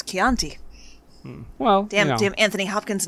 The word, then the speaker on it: Chianti: It's Chianti. Well, damn Anthony Hopkins not knowing how to pronounce stuff.